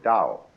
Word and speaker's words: Dao: in English ta AO but by Mandarin speakers pronounced approximately da the scholars who transliterated these words had a